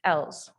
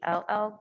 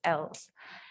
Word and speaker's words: ELL: English language learners is actually what the students go by, which is usually pronounced Ls. A lot of people say ELL, but it's Ls.